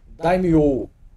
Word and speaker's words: Daimyo: Na verdade, pelo que ele escreveu aqui, a pronúncia correta seria Daimyo, que adiciona um elemento